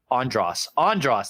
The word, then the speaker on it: Andres: Andres Jones. Andros. That's how you say it.